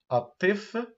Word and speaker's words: الطفل: prous ممتاز اطي الطي اللام هنا لام شمسيه لا تنطق وحرف الطاء حرف مشدد الطفل الطفل الطفل الطفل الطفل